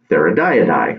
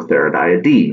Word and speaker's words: Theridiidae: So for the family that black widows belong to is called Theridiidae, or Theridiidae. Once again, pronunciation depends on who's saying it. So I'm going to say Theridiidae.